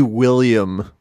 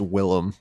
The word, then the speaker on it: Willem: um willem i was i'm like it should be william but it's willem well what the truth of the matter is where's this everyone says willem dafoe and then there